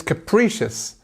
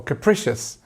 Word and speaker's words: capricious: you have your answer it's capricious or capricious depends where you where you're from to how you might say I say capricious depends okay what does